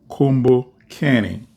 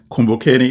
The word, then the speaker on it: Kumbukeni: at 12 noon and that podcast is called combo canning and I'm going to spell it out for you non-kiswahili speakers so it's k-u-m-b-u-k-e n i kumbokeni is a kiswahili word and it means remember